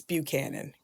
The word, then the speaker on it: Buchanan: So, how do I pronounce it properly? It's Buchanan.